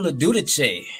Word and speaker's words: LoGiudice: is your host and we have lauren leduc what's going on lauren glad to be here